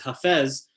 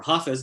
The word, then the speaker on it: Hafez: And then kind of pushing the boundaries is Hafez, or Hafiz, depending on how you pronounce it, and even a couple of more authors who push the boundaries even further.